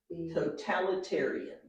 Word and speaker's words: totalitarian: so town in territory it's the long word totalitarian good absolutely totalitarian I don't think you're gonna